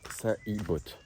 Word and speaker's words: Salibot: Sauf que non, si vous voulez bien le prononcer, il faudrait dire Salibot.